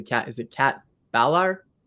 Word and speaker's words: Ballar: today I'm hanging out with I hope I'm pronouncing your last name correctly cat is it cat Valar balar balar okay thank you it's locked up in here